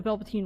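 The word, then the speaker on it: Velveteen: Have you guys ever heard of the story of the Velvetine Rabbit? It's a really old British story from like the 1920s. Have you guys ever heard of the story of the Velvetine Rabbit?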